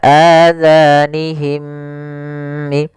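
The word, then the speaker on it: آذانهم: Hati-hati dalam pelafalan zalnya, jangan sampai terbaca dengan huruf za. Kemudian mim mati bertemu mim dinamakan dengan idgham mim. Maka adzanihim.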